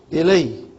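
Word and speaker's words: إِلَيْهِ: Right now we say ila. It's pronounced as alif. But as soon as you attached hu to it, then it opens up. The ya becomes visible. So it becomes Ilayhi.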